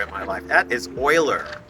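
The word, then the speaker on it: Euler: So, is Eu L E pronounced as Oiler or Uler? Oh my gosh, I have never heard Uler before in my life. That is Oiler. Oiler.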